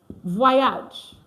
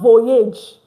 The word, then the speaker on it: voyage: It's not voyage. Like, you have to get this pronunciation.